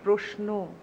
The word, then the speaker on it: প্রশ্ন: যখন রফলা থাকে তখন তো কারন্ত যুক্ত হয়, তখন তো সেখানে ও হয়, প্রশ্ন।